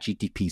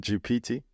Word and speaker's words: GPT: come you love chat GTP so much GTP isn't it GPT no GTP CH GPT GPT G oh yeah you're right GPT see I've been saying it wrong all this time GPT um yeah so